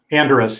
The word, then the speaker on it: Anderes: His is pronounced Bern, but it's spelled Bern. It's the capital of Switzerland. Baron Anderes. Anderes, yes.